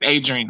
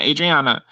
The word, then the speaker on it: Adrian: Shout out to Adrian. Yes, shout out to Adriana. She made the show. Adrian. Her name is Adrian, not Adriana. Adrian.